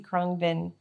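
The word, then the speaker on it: Khruangbin: Yeah, I went to see Krungbin. How's that spelled? Kruangbin. And I believe it's a Thai Phonetically word.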